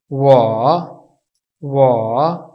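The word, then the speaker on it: 我: इसके ऊपर टून्स का इस्तेमाल किया गया, तो इसकी प्रोनाउंसिएशन कुछ यूं होगी, वाह वाह। क्योंकि यहाँ पे थर्ड टून का इस्तेमाल किया गया है, इसलिए लफ्ज़ को गिरा के उठाया जाएगा। वाह वाह।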